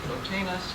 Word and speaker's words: Plotinus: Adita is very definite, I must say Plotinus, but anyway. Lillian? Plotinus.